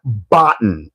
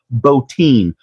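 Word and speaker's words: Bottin: makeup effects artist's name, it is Rob Bin, not Botton. I don't care if it's spelled B O T T I N. The makeup god who worked on John Carpage the thing is Rob Boutine.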